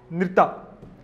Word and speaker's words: नृत्य: पहला है नृत्य, ऐसा प्रोनाउंस करो, नृत्य क्या है?